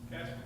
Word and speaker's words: Castello: Is it Castello or Castello? Castello. That's how I pronounce it.